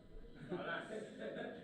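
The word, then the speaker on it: ἅλας: Tama ba yung pronounce pagpronounce ko? Halas. Halas. Hindi po kalas.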